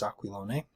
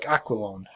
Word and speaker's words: Aquilone: pronunciation um I again I could be wrong this looks like an Italian name so I'm pronouncing it as an Italian name um it could be Americanized Italian even it could be like aqualon or something of that nature pardon me if I'm